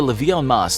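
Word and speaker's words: levée en masse: Called the levee en masse (pronounced leevy on mass) this was the first general draft in modern history.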